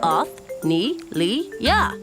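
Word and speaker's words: Othnielia: I'm Othnelia. You say that Oth-ne-li-ya.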